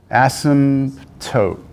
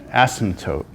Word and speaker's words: asymptote: Asymptote. Asymptote. Asymptote. It's hard. If you try and pronounce each letter, it's hard to say. So just do it real fast and no one will know. Just say asymptote.